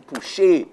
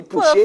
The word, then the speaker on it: Pouchet: But the French thing is Pouchet. But as Trinidadians, Trinbagonians, we answer to both. Pouchet, Pouchet, we'll answer here, but it's really Pouchet.